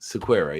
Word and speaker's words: Sequeira: Sequeira, yes.